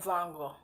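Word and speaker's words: Van Gogh: in the western world most people say Vince and Von go so you you might be familiar with with that but I think it's pronounced and forgive me if I'm I've mistaken but I think it's Vincent vongo so um the reason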